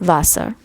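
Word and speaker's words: Wasser: you say water alpha deutsch or in german vassar it's w-a-s-s-e-r-u-r but it's pronounced vasa and um i'm just gonna step i love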